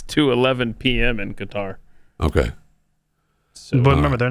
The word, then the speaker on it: Qatar: He pronounces it Qar.